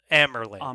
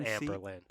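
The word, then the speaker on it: Amyrlin: I'm Amerlin, not Amberlin. Amerlin? I think, is that how you say it? That's how sometimes it's said in the audiobooks, but it's not consistent.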